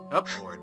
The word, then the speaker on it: cupboard: hide in the cupboard cupboard that's how it's pronounced cup I hide in the cupboard